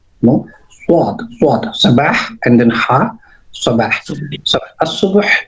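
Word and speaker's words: صباح: So Sabah al Khair, I always say swad, not seen. No, swad. Sabah and then ha. Sabah. So subuh is the morning. Subah जो आप कहते हैं, because Arabic correct pronunciation is subah.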